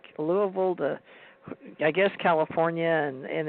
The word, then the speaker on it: Louisville: When people read it, they call it Louisville, but you're right, they pronounce it Louisville.